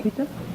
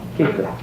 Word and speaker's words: Keita: Ella quiere entonces How do you say your name, Quita? Quita? Keta. Keita. Keita.